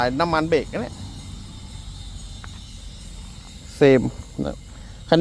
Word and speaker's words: SAME: ผม ไป ศึกษา ดู มัน ก็ อ่าน ว่า เซม นะ ครับ บาง คน ก็ อ่าน ว่า ซาเม มั่ง แซม มั่ง อะไร เงี้ย อ่าน เอา ว่า เซม นะ ครับ เท่า ที่